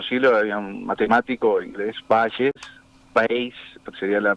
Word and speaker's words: Bayes: Hace 3, 4 siglos había un matemático inglés, Bayes, sería la pronunciación, que hablaba, y hay muchos teoremas que